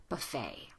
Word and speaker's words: buffet: But with a general American accent, that ET ending of a French word, pronounce it as an A, buffet.